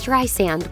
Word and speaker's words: Streisand: It's Streisand with a soft S, like sand on the beach.